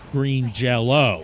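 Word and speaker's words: Green Jellÿ: this really the is they spell their band name green jelly but they say it's pronounced Green Jello man I really do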